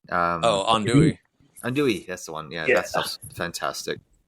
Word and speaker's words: andouille: Aldouin? Andouille.